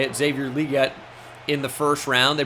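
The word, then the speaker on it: Xavier Legette: Deontay Johnson to get open obviously they drafted Xavier liette is how you say it Xavier liette in the first round they brought in Jonathan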